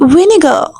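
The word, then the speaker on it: vinegar: में विनेगर कहते हैं okay are will be silent year you will have to give are sound of as right the word will be विनेगर प्रशन will be विनेगर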